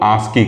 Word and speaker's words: ASCII: ठीक, इस ASCII code को हम लोग प्रोनाउंसिएशन जब करते हैं तो इसको हम लोग आस्की कहते हैं। ठीक, इसका जो प्रोनाउंसिएशन है वो क्या होता है, आस्की होता है, ASKEE।